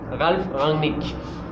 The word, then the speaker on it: Ralf Rangnick: Je me prononce pas pour une équipe mais j'adore le Manchester United, mais parler de Ralf Rangnick. Je l'ai bien prononcé, Ralf Rangnick.